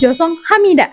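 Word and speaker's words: 죄송합니다: Nah formal itu dia pengucapannya josong hamida.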